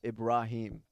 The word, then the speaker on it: Ibrahim: Okay, For the record, the right way to say my name is Ibrahim.